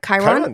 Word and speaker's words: Chiron: I've never heard of Chiron before. Am I saying it right? Chiron?